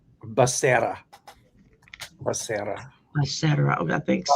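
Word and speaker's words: Becerra: It's pronounced uh Bassera.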